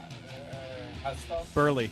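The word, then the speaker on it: Buehrle: Uh Burley.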